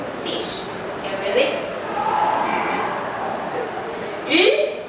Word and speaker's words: 鱼: 鱼, the pronunciation in Mandarin of 鱼 sounds similar to the word extra.